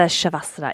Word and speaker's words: Shavasana: So my favourite part of yoga is the shavasana.